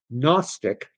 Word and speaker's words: gnostic: And just to put a fine point on it, if you're unfamiliar with the term agnostic, uh, Gnostic, K or K, where'd I get that?